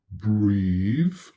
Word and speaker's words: breathe: Pub, pubs, word, words, pig, pigs, love, loves, breathe, breathes. Here the TH is voiced.